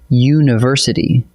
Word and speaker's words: university: It's spelled with a U, a vowel, but you say university, which starts with a Y sound, a consonant sound, so it takes A.